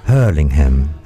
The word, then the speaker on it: Hurlingham: En realidad, la pronunciación correcta, ojo que la segunda H también se marca, es Hurlingham. Ah, la segunda H también. Hurlingham, claro, no es Hurlingham, es Hurlingham, claro. Porque tiene una segunda H.